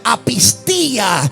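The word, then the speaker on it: ἀπιστία: En la falta de fe, en la falta de confianza e incredulidad, en la palabra griega que se pronuncia apistía.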